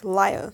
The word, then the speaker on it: Lyre: to be pronounced as because as an e at the end and to us British I don't know about Americans I don't know Americans but to us British is like laia so lyrical lieth what